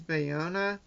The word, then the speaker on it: Bayona: gonna try to if my interpretation of how that name is pronounced is bayona it spelled ba y ou an a so talked about Jurassic